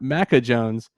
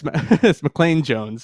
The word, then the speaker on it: McClain Jones: kitt mcconico too that it's not mecca jones it's mcclain jones so clay what's going